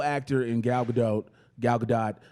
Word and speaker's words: Gadot: Jenkins an incredible actor in Galva doe gal gadot how did you say her last goddamn name